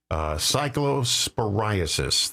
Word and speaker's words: Cyclosporiasis: Cyclosporiasis, that's how you pronounce it.